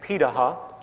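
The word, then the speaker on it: Pirahã: We know this today because of anthropological research done on remaining hunter-gatherer societies around the world, such as the Pidaha, which is how it's pronunciated, out of Brazil.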